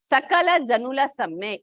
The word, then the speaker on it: Sakala Janula Samme: Many people they find it difficult to pronounce. It is Sakala Janula Samme.